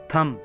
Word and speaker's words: thumb: जी हाथ का अंगूठा थम thumb3 इसमें बीच सा कन्नौट बे साइलेंट बी की आवाज नहीं आएगी तो अब क्या करना है